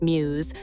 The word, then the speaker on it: μ's: The winning choice, Muse, pronounced Muse, wasn't chosen by a committee or a marketing team.